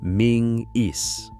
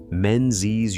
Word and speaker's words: Menzies: It is spelled Menzies, but it is spoken Ming-is. The letter that looks like a Z is actually an old Scots character called the Yogh, and the family is